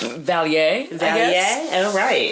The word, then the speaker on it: Vallée: Lynn, how do you pronounce that? Because you're really good with this kind of stuff. Vallée.